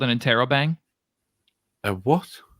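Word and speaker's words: interrobang: followed by a question mark is called an Intero bang a what it's called it's called an Intero bang how do you spell it I'll put it in chat i n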